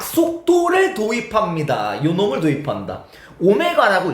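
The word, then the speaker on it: ω: 오메가라고 읽어요. 어쨌든 그냥 뭐 W라 생각해도 돼.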